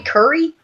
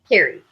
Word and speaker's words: Carrie: you just call me Curry cry car c that's how he says carry you racist what you want that like Curry to okay so I say my name Carrie Carrie yeah I had